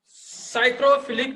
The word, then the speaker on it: psychrophilic: According to the temperature on which bacteria can be best live, they are classified into baga psychrophilic bacteria. Okay, here P is silent, friends.